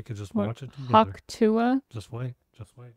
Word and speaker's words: Hawk Tuah: Hawk Tua? Just wait. Just wait. Is that how you say it? Hawk Tua? It's the... She's enunciating the sound of hawking a loogie.